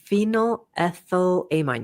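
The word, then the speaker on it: phenylethylamine: How would you pronounce this, Dmar? Um, uh, phenylthylamine. Pheninolethylamine. phenyl ethylamine.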